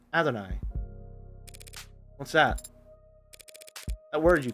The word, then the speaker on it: Adonai: Pronounce it a long A, so Adonai. Gotcha. Not Adonai. Adonai.